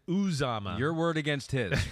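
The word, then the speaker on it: Uzomah: And by the way, Pete put in our document here, it is pronounced from the man himself, yew-ZAH-mah. yew-ZAH-mah.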